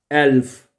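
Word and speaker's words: Elf: एल्फ, एल्फ, ई को मैंने बताया था जब हमने अल्फाबेट पढ़े थे ना, ई को ए पढ़ते हैं तो क्या बनेगा? एल्फ, एल्फ।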